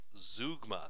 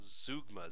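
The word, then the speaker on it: zeugma: a look at a closely related device called zoogma that's how this is pronounced zoogma z-e-u-g-m-a zoogma zougma is closely related to ellipsis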